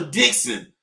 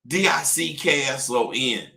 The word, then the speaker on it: Dixon: I'm a Dixon. Dickson. Dick son. Not that Dixon shit. That's pronounced Dixon, but it is Dix. Dix. On. It's different than Dick son.